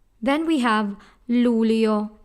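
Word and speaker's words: luglio: we have Lu Leo again in this word forget about the letter G we have two syllables rule yo the eye and all in there has they your sound Lou Leo that's Lou Leo a ghost own this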